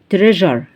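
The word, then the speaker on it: treasure: سجين يعني سجين جزئي تريجر اتنطقت تريجر تريجر اللي هي الاس يو اتنطقت كانها كده السي يو ار طب عندي كمان باريل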